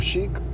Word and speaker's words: Chic: Cheek or Chic, however it's pronounced, the group is pronounced CHIC.